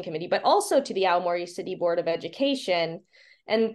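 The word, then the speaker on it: 青森: Yeah, Aomori.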